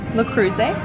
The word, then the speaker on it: Le Creuset: How do you pronounce this brand? Le Creuset.